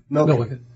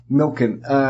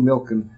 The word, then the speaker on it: Milken: The how do you pronounce it again? Milliken. Milliken? Milken. It's Michael Milken, the junk bond king.